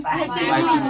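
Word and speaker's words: piping: है गरमा गरमा गरम जैसे देखिए इसको हालांकि लिखा हुआ लग रहा है पीपिंग है ना लेकिन इसको प्रोनाउंसिएशन किया जाता है पाइपिंग हॉल।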